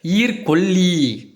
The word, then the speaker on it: ஈர்க்கொல்லி: இருந்து அதான் பார்த்தீங்கன்னா சொல்லுவாங்க ஈர்கோழி கிடையாது ஈர்க்கொல்லி சோ அதாவது அந்த ஈறுங்கிறது பார்த்தீங்கன்னா பேன்னு சொல்லுவாங்க அந்த பேனை கொல்லக்கூடியதுதான் ஈர்க்கொல்லின்னு சொல்லுவாங்க நம்ம வந்து அதை சோ